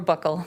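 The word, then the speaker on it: buccal: Who took the uh you call pronounce it bugle swab or or buckle? Okay. Either way is fine.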